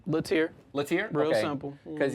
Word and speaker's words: Lattiere: Lattiere. Lattiere? Real Okay. simple. Because yesterday I was like, is it Lattiere? Because it kind of looked French. That's the French pronunciation.